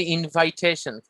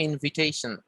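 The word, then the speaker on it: invitation: আমরা বলি ইনভাইটেশন, তো উচ্চারণটা হবে ইনভিটেশন। ইনভিটেশন।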